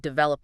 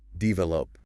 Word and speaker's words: develop: Try putting the stress on the second syllable. Develop.